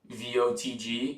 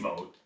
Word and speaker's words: Vogt: How would you pronounce the manager's last name? VOTG? No, VOGT. Watch That'd this. be Vote. Vote? Yeah, right? I feel like the G's silent there, no?